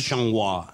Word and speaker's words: changua: Usted ha visto que en La Bagatelle lo escriben en francés, se escriben changuis, pero se pronuncia changua.